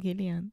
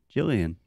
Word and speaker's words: Gillian: I said Gillian. It can be either way.